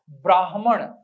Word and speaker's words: ब्राह्मण: और बिल्कुल वैसे ही आप याद रखें, सही वर्तनी है और सही उच्चारण है ब्राह्मण, जिसे ब्रह्म ज्ञान है ब्राह्मण।